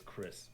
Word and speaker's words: Cris: The character name is Chris Bell, so it's Chris. Sweet. It is Chris.